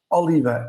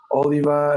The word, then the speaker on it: Oliva: So we'll have Oliva in, and I will repeat, Oliva is the right way to pronounce it. So Oliva. for those who don't know, and some people who are not Portuguese have been asking if it's Oliva, if it's Oliva, if it's whatever. It's Oliva.